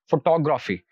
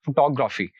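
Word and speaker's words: photography: और नेक्स्ट हमारे पास जो वर्ड है दैट इज फोटोग्राफी, फोटोग्राफी, तो यहाँ पर जो आखिर से तीसरा सिलेबल है दैट इज टो, तो वहां यहाँ पर जो हम स्ट्रेस होगा वो इस सिलेबल पर पुट करेंगे, तो it will be pronounced like this, फोटोग्राफी।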